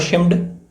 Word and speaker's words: Schmid: तो ऑप्शन 4 है ऑटो शिम्ड, ठीक है, स्पेलिंग इंग्लिश में अलग रहेगी, SCHMID रहेगी, और एडविन हब्बल, या फिर कार्ल वाइजास्कर, या फिर कांट।